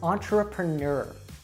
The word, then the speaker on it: entrepreneur: for learners is that we have many french words in english but they're not pronounced like french usually so a really great example of this that you probably would be very confused if you saw it written down as to how to say it is entrepreneur entrepreneur schedule now this one